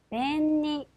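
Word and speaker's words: 便利: 니은 받침에 주시면 되겠죠 이번에는 편리하고 하는 단어입니다 같이 읽어 보시면 벤니 벤니 자 아라 행 앞이기 때문에 니은 일본어에서는 절대 리을 받침은 없어요 벤니 여야 합니다네 자 이번에는 미음으로 발음이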